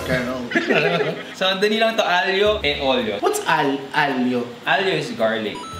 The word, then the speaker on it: aglio e olio: My aglio olio is so close to my heart because it's from Naples. The left or the right Naples? So that's how you pronounce it. Yeah, aglio e olio.